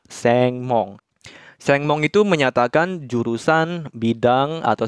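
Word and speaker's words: 専門: gerbang dibacanya Mong sehingga dua kanji ini dibacanya seng mong itu menyatakan jurusan bidang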